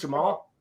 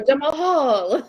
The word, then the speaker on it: Jamahal: Jamahal. Jamal. Is it just Jamal? Yeah. Like I do the same thing when I look at it. I go Jamahal. Yeah.